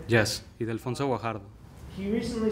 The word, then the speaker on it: Ildefonso Guajardo: Yes, Ildefonso Guajardo.